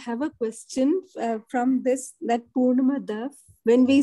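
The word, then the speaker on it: पूर्णमदः: Tanmayji, I have a question from that Purnamada. When we say, don't we pronounce it as fur? And yesterday in the class, and even otherwise, I remember that there is there's nothing like fur. It's per.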